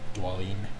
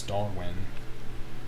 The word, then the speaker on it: Dwalin: I think that's how you say his name. Dwalin. For the longest time, I always thought it was Darwin, even though it's specifically clear that there is no R in his name, and that his name doesn't sound like Darwin.